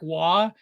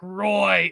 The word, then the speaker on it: Roy: You know, he's like, they're screwing us over, and so he like refuses to say Patrick Waugh. He says Patrick Roy. It's Roy.